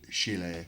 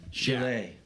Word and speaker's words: Chile: It's pronounced Chile. Chile.